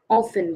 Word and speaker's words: often: it it is often often the t is silent here okay it is often